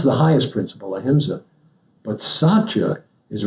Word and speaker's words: Satya: Okay, Satya. Satya.